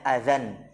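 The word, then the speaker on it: أذًى: Ya, itu dibacanya azan. Kenapa? Karena dia isim apa? Sahih. Maksur mangkus. Hah? Isim maksur ahsan. Isim maksur ketika dia tidak kemasukan al, maka tanwinnya secara lafaz dihapus.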